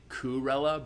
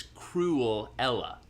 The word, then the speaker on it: Cruella: that i was saying i realized i was saying kurela but it's cruel ella that's the point yeah so